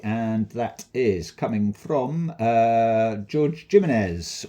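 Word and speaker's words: Jorge Jiménez: This is cover A, and that is coming from George Jimenez, or Jorge Jimenez, as people like to pronounce it.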